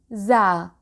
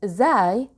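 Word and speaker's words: ز: mate or my darling the last letter for today is za za some people call it zai which is also correct but i'll go with za za stands for z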